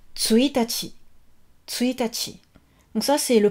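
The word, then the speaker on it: 一日: Donc pour le premier jour du mois, donc on met un 1, on met le kanji nichi, mais ça se prononce tsuitachi.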